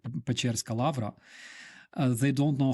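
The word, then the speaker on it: Печерськ: want to visit like Pecherska Lavra, they don't know how to spell it properly. That's why they say Pechorskaya, because they think that it's spelled like yo, but it's Pechersk.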